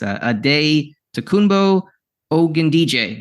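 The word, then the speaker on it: Adetokunbo Ogundeji: little difficult to pronounce ad day tumbo oan DJ is how I have phonetically things written down the linebacker um former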